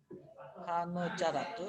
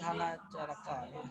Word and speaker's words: Hana caraka: Hana carake data sawala maka bange pajayanya. Ya, cara bacanya hana carake. Jadi jangan dibaca nanti hana caraka.